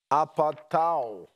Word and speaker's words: apatao: That word deceive in Greek is the word apatao. I'm trying to pronounce it the way a Greek person would.